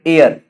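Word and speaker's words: heir: sound हो जाता है जैसे अगर हम बात करें एयर यहां पे एच साइलेंट होता है आवर एच साइलेंट होता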